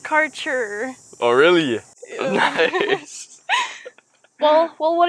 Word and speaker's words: Kärcher: It's pronounced karcher.